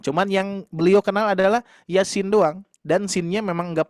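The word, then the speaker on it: يس: Iya-nya 2, sinnya 6. Hati-hati ya. Nah, ini kalau kita membaca Yasin jangan sampai Yasin. Nah, itu ya. Sinnya 6. Yasin.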